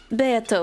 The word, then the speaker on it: Beato: This is the first time it actually says the pronunciation. Beato will do.